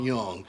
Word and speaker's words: Jung: Pastor Dowell against Ron Young, and that's spelled Jung. And I just got finished debating Christmas and Easter.